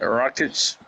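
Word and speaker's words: Rakić: Rockets. Yeah, Yeah, Alexander Alexander Rakic.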